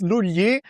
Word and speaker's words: Lugli: So, it's Luly, but it's because it's Italian, you know, I'm I'm Italian and I'm talking to